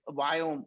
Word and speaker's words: Viome: I named the company that Indians cannot pronounce. Indians cannot pronounce the word we. I cannot do we. I just do we. And so what is we? It's a we as in Victor.